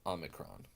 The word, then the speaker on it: Omicron: Omicron and you know there's different ways of pronouncing this I prefer to make it fairly similar to the Alpha make a distinct from the Omega the Omega Omega being long the long Oh I pronounce this as ohmic